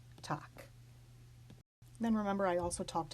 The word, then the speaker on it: Tag: Here's the German word for day. This final G will be pronounced as a K. Tag.